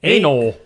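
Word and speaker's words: anole: A N O L E. Anol. An N O A. Anal. Anoli. A N O L E. That's how it's spelled. It's anal. Anal. Anal.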